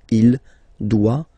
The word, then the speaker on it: doit: Final T not pronounced. Il doit.